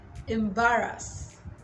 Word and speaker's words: embarrass: Embarrass, not embarrass. I know a lot of people pronounce this word as embarrass. Some people would even say embarrass. Don't embarrass me. Well, now you know it is embarrass and not embarrass.